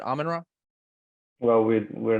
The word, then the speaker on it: Amenra: with uh Colin from almond raw that's how I've always called it almond raw is that right is that how you pronounce it amanra well we we're not